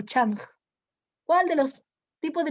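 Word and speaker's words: chunk: El almacén donde irán contenidos que hayan sido codificados en unidades llamados changs. Bueno, chung dice acá, ¿no? Pero se pronuncia chang.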